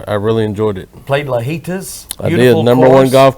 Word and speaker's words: Lajitas: really enjoyed it played lajitas i did number one golf course in texas it is a it's amazing course man i love any course that rhymes with fajitas oh yes fajitas but